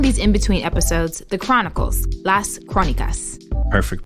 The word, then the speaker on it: Las Crónicas: We're calling these in-between episodes the Chronicles, Las Crónicas. Perfect pronunciation, Lexi.